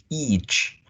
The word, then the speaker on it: each: is this one M you have to be careful with the vowel sound at the beginning not to make it itch because if you remember